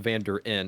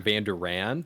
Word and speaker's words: Vanderin: And by the way, it's actually pronounced Vanderin. I don't care that much on people saying Vanderan because But you technically care a that little makes more bit.